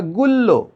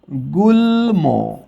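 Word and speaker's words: গুল্ম: যেমন ধরো আমি যদি বলি তাহলে এখানে সূত্র অনুসারে হওয়ার কথা গুলল্য। ল দুইবার হওয়ার কথা। কিন্তু আমরা এটার উচ্চারণ করি কি? গুলম।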